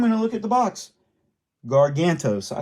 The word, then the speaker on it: Gargantos: wrong so I'm gonna look at the Box gargantos I said it right he looks good too